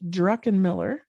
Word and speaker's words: Druckenmiller: So it's Druckenmiller, pronounced Druckenmiller, and Unmuted Life is your Insta, right?